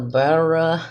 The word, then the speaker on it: birria: And I understand when pronouncing it, you have to roll the R on your tongue. So the BIRRIA.